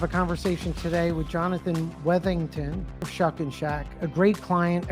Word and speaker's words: Weathington: proud to have a conversation today with Jonathan wethington of shuck and Shack a great client a